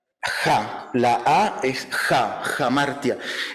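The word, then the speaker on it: ἁμαρτία: fue la palabra en griego o bueno se pronuncia la a es jamartia y Y esa palabra en griego es la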